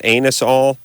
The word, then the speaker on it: Anusol: way and you saw shouldn't you pronounce that anus-all it's a-n-u-s-o-l anusole you got the word anus right hold on a second